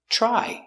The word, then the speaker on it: try: Try. You have TR. TR together, it makes the ch sound like chicken. So together, ch, try.